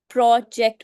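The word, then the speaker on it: project: For example, प्रोजेक्ट. प्रोजेक्ट में आप प्रो को स्ट्रेस देकर बोलेंगे. Y? Because it इज a noun.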